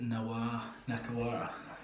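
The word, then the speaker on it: Nakarawa: The other lock, I'm gonna go with Fiji's Nioni Nakawara. That's how you pronounce it.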